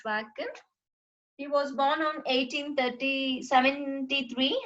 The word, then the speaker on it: Joaquin: And Joaquin, so you pronounce it as Joaquin.